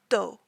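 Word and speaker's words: D.O.: last name which is do but the periods make it pronounced d o and so his full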